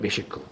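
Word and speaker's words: Meshech: 메세크는 게세니우스는 그의 히브리 사전에서 메세, 이 원래 발음이 메셰크거든요. 메셰크. 메셰크는 모스키안 산맥에서 거주한 모스키족의 조상이다.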